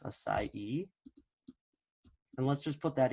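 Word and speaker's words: açaí: was telling you about your acai it's pronounced acai and let's just put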